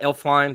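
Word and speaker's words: Elflein: so they did sign you know uh pat elf fine that's how you say his name from the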